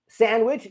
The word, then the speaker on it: sandwich: Someone has said, "Sandwich, the D is silent," which is true, thank you Gazala Undrem.